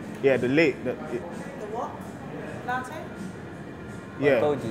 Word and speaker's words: latte: Yeah, so you're saying late, but it's latte.